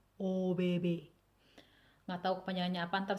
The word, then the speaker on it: ABB: Kalau di Swedianya dibacanya OBB.